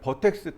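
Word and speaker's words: vertex: 벌텍스를 우리나라 말로 하면 버텍스 또는 벌텍스라고 읽는데 우리나라 말로 뭐라고 하냐면 점입니다.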